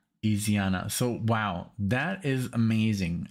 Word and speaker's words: Isyana: So it's ISYANA. I don't know what I said, but I'm sure I butchered it. ISYANA SARASVATI or Sarasvati. ISYANA.